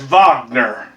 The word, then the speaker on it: Wagner: Wagner is pronounced with a letter V as Wagner.